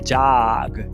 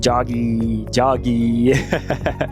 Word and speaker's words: jog: Então, correr, dar uma corridinha, é jog, e não jog. Palavras que terminam com G, você tem que pronunciar um G seco. G, e não colocar esse I depois.